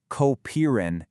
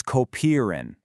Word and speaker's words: kopieren: In German, whenever you see ie together, it makes a long e sound like in the English word be. So, it's not kopieren, it's kopieren.